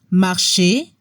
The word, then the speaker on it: marcher: Ejemplos de verbos del primer grupo: parler, marcher, chanter, significa hablar, caminar, cantar. La combinación ER al final de los verbos suena como la E en español. No se pronuncia la R.